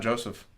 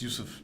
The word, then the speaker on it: Joseph: And his brother, it's not Joseph. What is it? It's Yusuf. Yusuf?